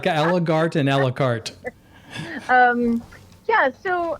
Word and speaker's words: Allegaert: no yeah usually it's air art no it's alart yeah it's a Flemish ending and uh but it's pronounced art well you the the